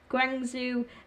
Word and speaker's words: Guangzhou: Guang zoo guangzhou zoo i think that's pronounced gwangsu ever grande FC to qualify